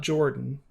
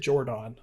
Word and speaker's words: Jordan: from the name and it's not jordan i know that's how most of us pronounce it but he pronounced it jordon okay so i'm kind